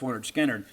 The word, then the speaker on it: Lynyrd Skynyrd: I think in many respects kind of overshadowed because of all the hits that came on pronounced Lynyrd Skynyrd.